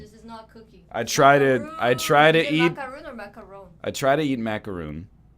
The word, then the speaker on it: macaron: So it's a very French show today between the Serge Gainsbourg and the macarons. Macaroon. Well, Macaron. in French it's macaron.